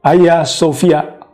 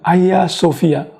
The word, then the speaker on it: Aya Sofia: turis asing dari mancanegara masyarakat Turki menyebutnya sebagai Ayah Sofia dan memang lebih enak terdengar kalau diucapkan Ayah Sofia nah sampai di sini